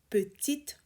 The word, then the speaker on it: petites: You pronounce the T because the noun is ruelle. So ruelle is feminine. We have an agreement rule with petite. Et leurs petites ruelles pavées sont des bijoux d'authenticité.